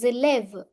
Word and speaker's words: élève: Je suis élève. I am a student. Élève means student. Here, S will overtake the sound of E. Hence, it will become élève. Élève. In liaison, S changes to Z sound.